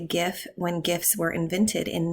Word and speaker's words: GIF: I like everyone to notice here the hard G pronunciation on the GIF label.